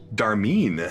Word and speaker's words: Darmeen: Darmeen. Darmeen. How do you spell that? D-A-R mean. Oh, he's not Darnice.